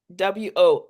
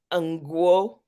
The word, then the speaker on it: Ngwo: Ngwo. And so the N is like silent, and you're In really going for the G. Ngwo.